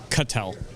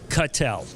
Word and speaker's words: Cattel: we had a discussion proper pronunciation of your last name cut L cut L could tell I was